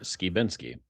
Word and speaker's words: Skibinsky: And my last name is pronounced Skiinsky.